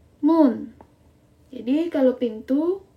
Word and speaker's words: 문: Kalau pintu bacanya 문. Jadi kalau pintu 문, kalau jendela 창문.